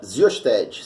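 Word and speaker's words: Xyosted: Tanto que nos Estados Unidos nós temos uma medicação chamada Xiosted. Se fala Xiosted, se escreve Xiosted, que remete aí o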